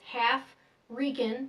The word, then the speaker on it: Halfrican: It's half Rican, that's how you spell it. Half Rican Knight. It's pronounced Halfrican.